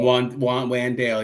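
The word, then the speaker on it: Wan'Dale: Is it Wandale or Wendell? Wandale, yeah, it's spelled like that.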